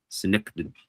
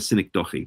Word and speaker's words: synecdoche: I call it a synecdoche, but I think that's the wrong pronunciation. Synecdoche. I think it's synecdoche, something like that. That's the way it's really pronounced. I always like to call it synecdoche. That's what I've been calling it for years.